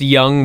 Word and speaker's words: Jung: It's pronounced Young, but it was spelled J-U-N-G.